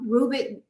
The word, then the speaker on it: Rubik: But I know Rubik is right. Yeah. The Rubik's Cube. Yes, and he was a Hungarian architect and inventor. And it says, while Rubik became famous for inventing